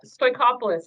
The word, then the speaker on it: Stoikopoulos: name again pam uh stoichopolis it's very similar to workoff list so we're good okay